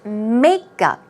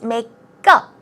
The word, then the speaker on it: makeup: look at the pronunciation obviously the stress goes on the first syllable so it's makeup now notice it's not makeup it's makeup go it's a go-go